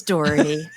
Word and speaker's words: Dougherty: Emily T Lane and Dy is it Dy or dhy or Dy it's dhy like dhy like dhy fairy Road you know